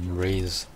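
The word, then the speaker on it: Ryze: do you even say his name rise it's rise oh rise oh rise yeah it's rise yeah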